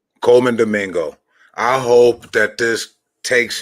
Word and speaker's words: Colman Domingo: How do you pronounce his actor's name? Colman Domingo. Colman Domingo.